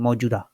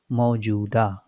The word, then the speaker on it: मौजूदा: मुख्यमंत्री ने कहा कि राज्य सरकार ने 21 मौजूदा, वाई इट इज बड़ा हो, because I एम not saying मौजूदा, आई एम सेइंग मौजूदा.